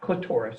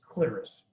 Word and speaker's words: clitoris: The gland's penis, that's the head of the penis, and the clitoris, not clitoris, it's pronounced clitoris, are homologous.